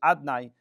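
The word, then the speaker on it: יהוה: Yud Kei Vav Kei, we don't read it and pronounce it as Yud Kei Vav Kei. We read it as the name of Aleph, Daled, Nun, Yud, Adnai, not in the name of Yud Kei Vav Kei.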